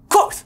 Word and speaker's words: Kvothe: I think it's like the word quote, but with like a TH at the end and a KV at the beginning. Quoth. Quoth is a musician, an